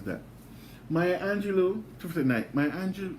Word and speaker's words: Maya Angelou: i'll tell you how the right way to pronounce that maya angelou to the knight my angel my that song